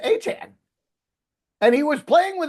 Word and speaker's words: Achane: So, does that So, Trevor is also Achane? Yes. That's the way you're supposed to say it. Isn't that crazy? And yet there is an Achane. There is an Achane, but of course it's A C H A N. We thought it was A chain.